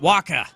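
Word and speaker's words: Wacha: Waka. That's it. Michael Waka. Why I always doubt it? Cuz a Fuzzy Bear from the Muppets. He would always Waka Waka.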